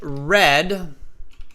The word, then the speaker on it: read: life sure yesterday I read red is still spelled r-e-a-d gopu it's not like the color red um it's just the pronunciation that changes but the spelling change spelling stays the same so yesterday I read